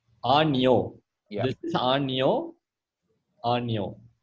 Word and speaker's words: año: play the pronunciation, but this is how it's pronounced. Año. Año. Año. Yeah. Oh, the Or is tilde there a was pause? missing. Okay. No, the apostrophe kind of thing over N was missing when you typed Ano.